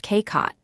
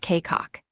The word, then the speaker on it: 꽃: It is spelled with a final chiat, the CH letter, but remember that in the bachem position the whole T group, including CH, collapses to a held T sound, so this word is pronounced K-kot, not K-cock. It means flower. The fourth is jip, meaning